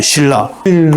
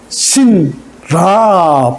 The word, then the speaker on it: 신라: 신라. 오케이. 발음 어떻게 해요? 니은하고 리을이 만났잖아요. 꽝. 니은하고 리을이 꽝 부딪혔어요. 유음하고 비음이 부딪혔어요. 그럼 어떻게 돼요? 다 유음으로 바뀌어요. 리을로. 그래서 신라 발음이 어려워요.